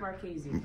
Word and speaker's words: Marchese: It's pronounced Marchese. Marchese.